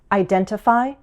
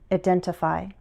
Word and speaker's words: identify: Identify, identify. And in both those variations, we can drop the T.